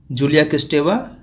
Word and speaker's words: Julia Kristeva: Okay, Michel Foucault, Jacques Lacan, Julia Kristeva, and Roland Barthes. Okay, Roland Barthes. That's how these names are pronounced.